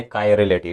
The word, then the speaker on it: chirality: हमारा जो टॉपिक है वो कायरलिटी, यानी ये प्रोनाउंसिएशन कुछ इस तरह है, कायरलिटी।